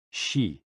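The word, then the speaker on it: 嘻: And XI, pronounced like shi, which connects the whole body.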